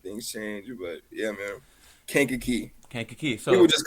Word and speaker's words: Kankakee: It's Kankakee. Kankakee. Kankakee. Okay. So So Kankakee, Illinois.